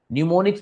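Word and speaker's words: mnemonics: न्यूमोनिक्स में am silent है बच्चों।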